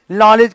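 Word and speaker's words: knowledge: इसलिए कनाइप का के साइलेंट, रॉन्ग का W साइलेंट, नॉलेज का के साइलेंट, सुनामी का टी साइलेंट, है कि नहीं।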